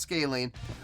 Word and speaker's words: Scalene: I wanted to make sure I was pronouncing it right, and apparently it is pronounced Scalene.